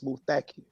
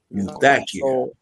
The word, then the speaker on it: Muthakir: Brothers, the accent is on the second syllable. It's Muthakir. Muthakir.